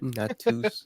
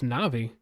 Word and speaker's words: Navi: Natus is the next one. No, it's Navi. Yeah, Natus Vincer, Navi. Brian said not. What did Brian say? I said what the NAPAR Navi stands for.